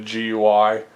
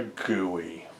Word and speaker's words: GUI: The first time I ever heard that called guey, I was just like, "Oh god, that's stupid." I always called it a GUI. Then someone said, "Oh, it's a guey." like it's it's a gooey.